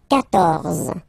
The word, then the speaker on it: quatorze: So, remember, Q and U here. Well, basically, you've got to put this U vowel, because that's the rule in French, even if you don't pronounce it, okay? So, you will get the sound K here. K. Quatorze, quatorze, okay?